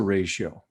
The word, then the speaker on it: ratio: So the first concept is, what's a ratio? Okay, this thing called a ratio. You'll notice that it has two syllables in it. It has ray and then show.